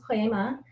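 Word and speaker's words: poiema: It is pronounced poema, and it is of Greek origin, and it means piece, poem, or work of art.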